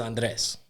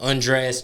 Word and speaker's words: Andres: right so my name my real name is Andres and this is at the time where you might remember where blacks and Hispanics were getting along but it was still hard to pronounce certain Hispanic names so it'll be like Andreas try to make it into a joke I was like just